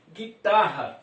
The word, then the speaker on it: guitarra: Guitarra, também nós temos dois dígrafos nesta palavra, GU. Veja bem, o U fica sem pronúncia.